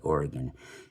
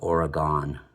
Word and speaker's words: Oregon: Not even, you know, people back east didn't even yet know how to pronounce the name of the state right, Oregon. Instead of that, they would call it Oregon.